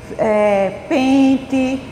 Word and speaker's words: pente: Exemplos da palavra quente, noite, pente. Veja que essas palavras se escrevem com E no final, mas a gente pronuncia com I.